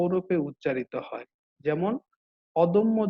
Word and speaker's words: অদম্য: এই মধ্য অয়ের পরের ধ্বনিতে জ ফলা আছে, এজন্য মধ্য অটি ওতে রূপান্তরিত হচ্ছে, দটি দো হয়ে যাচ্ছে, দটি তো হয়ে যাচ্ছে। তাহলে এটির উচ্চারণটা কি হচ্ছে? অদম্য। খেয়াল করবে, অদম্য।